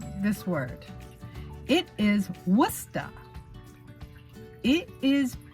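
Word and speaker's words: Worcester: problem with spelling like this word it is wusta it is pronounced or spelled with chester so tada we'll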